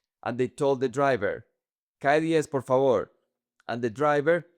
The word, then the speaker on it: calle: Because they were pronouncing the double L like the soft double L. In Medellin, we say "calle".